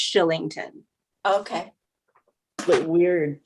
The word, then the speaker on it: Kylington: i n g t o n but it's pronounced shillington okay but we're like the weirdest thing since